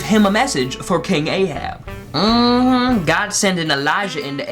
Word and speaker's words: Ahab: Today we gonna be talking about a gentleman by the name of King Ahab. Rhymes with rehab.